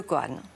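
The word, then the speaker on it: kōan: Alors, le COAN, on a gardé ce mot, mais c'est la prononciation japonaise d'un terme chinois qui est Gongan.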